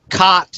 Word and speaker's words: khat: You know, if for those of you who don't know what cot is, it's spelled Khat, and it comes from Somalia.